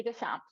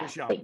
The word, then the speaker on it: Deschamps: my maiden name, but Deschamps. Yeah. Deschamps.